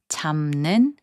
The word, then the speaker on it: 잡는: 잡는, which means catching, is pronounced as 잡는.